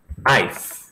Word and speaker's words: knife: Knife. Vou anotar aqui, ó. Wolf, lobo. Knife. Faca. Não se pronuncia o K, tá? Do faca. Fala knife. Se você quiser botar essas